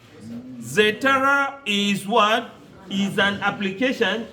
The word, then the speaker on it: Zotero: Zotero.